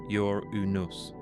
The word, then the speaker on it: Uranus: Some pronounce it your unus with the emphasis on the first syllable trying to create distance from the unfortunate alternative.